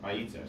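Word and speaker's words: וַיִּיצֶר: The accent is on the second to last syllable. Sorry, there's a vowel missing now. It is Vayitzar. I don't know why that. Vayitzer.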